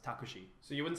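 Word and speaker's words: タクシー: Like a taxi cab would be written in katakana and it'd be pronounced takushi.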